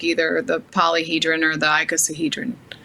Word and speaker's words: icosahedron: really important can i point out the the icosahedron is how you say it the the same